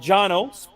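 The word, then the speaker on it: Cano: are Cao mm-hmm so Janos spelled c-a-n-o but pronounced Jano uh rat is his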